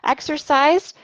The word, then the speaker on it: exercised: Exercised, we can pronounce with a D sound.